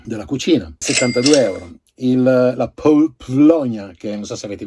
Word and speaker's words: Paulownia: Quando io non so le lingue, quindi io non so le pronunce. Si dice Paulonia, a parte le battute, gli scherzi fra me e lei, 91 euro.